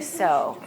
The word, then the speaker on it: sow: an expression in English you reap what you sow you reap what you sow if you do